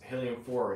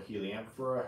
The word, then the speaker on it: Heliamphora: I mean, heliumphores, I like to call them heliumphores because I think it's just sounds cooler. But I know for technically pronounce heliumphora or heliamphora, however, people pronounce them differently, okay?